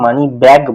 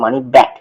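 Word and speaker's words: money back: তো এটা এটা অনেকে ভুল প্রোনাউন্সিয়েশন করে, মানি ব্যাগ বলে, তো এটা ব্যাগ নয়, এটা মানি ব্যাক, মানে আমি টাকা ফেরত পাচ্ছি।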